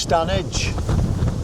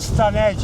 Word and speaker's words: Stanage Edge: Well, it's pronounced Stan Edge. or the Stan Edge ED DG.